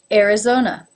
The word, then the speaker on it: Arizona: two are schwa Alaska Arizona it begins with an a but it's pronounced as the air as in bear being followed by the our Arizona Arkansas this state name